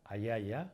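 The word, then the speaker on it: ajaja: término de más moderno, la pronunciamos como I. Por ejemplo, la Platalea ayaya o por ejemplo, el Phoenicoparrus yamesi.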